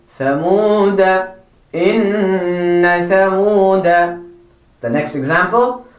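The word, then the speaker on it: ثمودا: You have to make sure that you do not pronounce the alif that has the circle. Make sure that you make note of that. You do not say ثمود, but ثمود.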